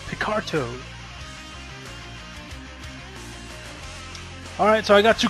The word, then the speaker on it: Picarto: I keep calling it Pictaro, but it's actually pronounced Picarto.